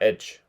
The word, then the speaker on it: edge: Ну, я бы сказал не age, а edge. Edge.